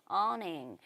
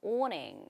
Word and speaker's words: awning: 어떻게 발음이 나온다? awning. 영국 사람들은 이걸 어떻게 발음하냐면 영국 분들은 awning 이런 식으로 발음을 하는 그 경향성이 좀 있습니다.